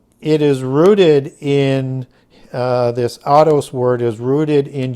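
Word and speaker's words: αὐτός: G 846 which is the word autos or Oto's depending on how you want to pronounce that but autos as we would in English and it's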